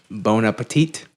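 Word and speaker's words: bon appétit: Apple see ya all right don't set of bone Appetit thank you that's basically what we do all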